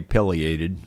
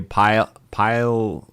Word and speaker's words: pileated: And everybody pronounces that word different, but most people say pileated. Some people say pileated or something like that. But anyway, pileated is the way I've always heard it. Excuse me.